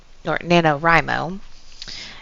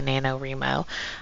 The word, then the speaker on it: NaNoWriMo: Now, if you're not familiar with what NaNoWriMo is, it is National Novel Writing Month. And I always mispronounce it. I always say NaNoWriMo, but it's NaNoWriMo.